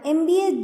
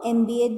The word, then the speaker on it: MBA: For example, you can say, he studied for an MBA degree and not a MBA degree. This is because the sound of M starts with the E sound like in the word embrace.